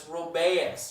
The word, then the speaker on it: Rubaeus: It's real screwed up how it's spelled, too. It's like R-U-B-A-L-I-J-K elemental P, you know, all those letters. So it's Rubaeus, all right?